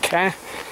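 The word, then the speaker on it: Kerr: In Scotland, it's spelt K-E-R-R, pronounced care.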